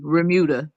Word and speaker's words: remuda: pronouncing it righta veruda Bermuda Bermuda okay yeah without the be Remuda is a herd of